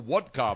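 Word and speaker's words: Wodka: you have the new woodka vodka have you seen it there's a new vodka called woodka no it's spelled w o d Ka so that you can sound like you're Russian or that you are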